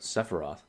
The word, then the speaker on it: Sephiroth: Sephiroth. How do you say it? Sephiroth. It's an E, not an A.